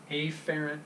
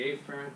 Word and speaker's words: afferent: arterial classic biology right two words it sound pretty much the same way if you're not careful with your pronunciation so a ferrant arterial efferent arterial okay so the 8th carrying